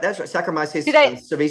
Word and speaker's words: Saccharomyces cerevisiae: Saccharomyces cerevisiae. Saccharomyces. Yeah, exactly. That's right. Sorry, my pronunciation wasn't good there.